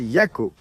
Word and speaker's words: Jaco: Il y a une île qui s'appelle Ataoujo et il y a une autre île qui s'appelle Yako. Cherchez-la. Ça s'écrit Ataujo et l'autre s'appelle Jaco.